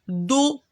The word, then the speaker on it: dos: lettre d d le dos et on fait le rappelle que la la dernière lettre c'est une constante qu'on prononce pas elle est muette en continu le dos